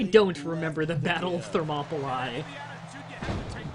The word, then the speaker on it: Thermopylae: No, I don't remember the Battle of Thermopylae. Bonus points that I got to pronounce it correctly, though. You gotta give me something for that. Not many people can pronounce Thermopylae.